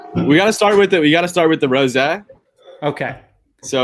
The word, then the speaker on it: rosé: No, rosé is correct.